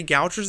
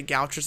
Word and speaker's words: Gaucher: When I say Gauchers disease, I just pronounce it as Gauchers disease.